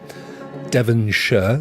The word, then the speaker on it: Devonshire: in England is known as something sure we pronounce it sure Devonshire is where I live uh I mean some